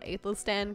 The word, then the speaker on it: Aethelstan: whether they'll say Lord Aethelstan correctly. So, I was like... Did I say it right? You did. Okay, good. You did say it right. That's how you pronounce it.